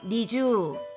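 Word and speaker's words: 二十: 겠니 주 니 주어 이거 발음할 때 주의사항은 요 이라는 것은 이 두 박자 아니라 1박 달리기 때문에 다르마 데도 미주가 아니라 미주 한다는 겁니다 다시 한번 할게요 니쥬 음 잘 했습니다 22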